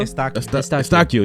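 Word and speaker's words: Eustáquio: Estacio, yeah.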